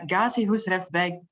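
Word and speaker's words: Gazi Husrev-beg: TNA webinar on, and I'm going to not pronounce this correctly, the Ghazi Husrev Beg Library in Sarajevo.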